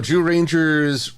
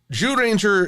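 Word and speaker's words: Zyuranger: it's kind of funny Jew Ranger is starts with the z-y-u but I swear it all comes together to sound like a j when it's pronounced in red in the original Japanese so apologies if I'm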